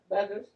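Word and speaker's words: Bueckers: You think the U is silent? Yeah, I think so. Okay, Too. okay. Beckers, 14 points, 6 rebounds, 2 assists.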